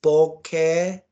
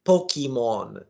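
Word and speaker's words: Pokémon: in the Japanese subculture it's pokeon it's it's not Pokemon it's not I know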